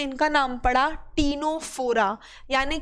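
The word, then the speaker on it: Ctenophora: इनका नाम होता है क्या, टीनोप्लाना, जिसमें सी साइलेंट होता है। तो टीनोप्लाना जो था, टीनोप्लाना की वजह से इनका नाम पड़ा टीनोफोरा, यानी कि फोरा मतलब होता है बियरिंग।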